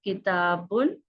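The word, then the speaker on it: كِتَابٌ: The correct one is, this is kitabun, a book. You need to remove n sound, that is one dhamma, and it becomes al-kitab, the book. So you can see here we need to remove this one.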